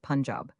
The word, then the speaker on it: Punjab: You must pronounce it Punjab.